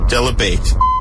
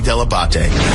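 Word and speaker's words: Dell'Abate: with John Heat is a heat and Gary Debate. I love when everyone pronounces it wrong. Hey, it's Jimmy Kimmel. You're listening to the wrap-up show with John Hine and Gary Deabate.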